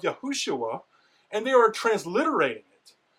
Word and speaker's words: Yahushua: Therefore, there's no reason to say that the name is Yahusha. This is a mistake. People are simply taking the defective form, the shortened form of Yahushua, and they are transliterating it.